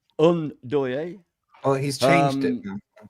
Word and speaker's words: Ndoye: Ndoye is how you pronounce it. Ndoye.